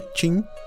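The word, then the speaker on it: Qin: Ali o território era chamado de Joan W, mas foi a força da dinastia Q, que se pronuncia Tin, que atravessou fronteiras.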